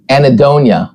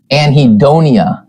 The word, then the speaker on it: anhedonia: you in the very beginning uh now Whitney pronounces it anonia which I think sounds way cooler maybe because